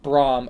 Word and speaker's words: Bram: The dynasty is over by the way it's pronounced Braum."